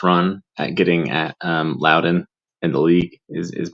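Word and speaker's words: Leuven: luden or against luden I believe it's it's pronounced Lowden and I know I've made the mistake of saying luden in the past um yeah with one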